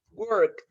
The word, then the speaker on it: worked: Ah, pues este se va a pronunciar así, worked, como con una T.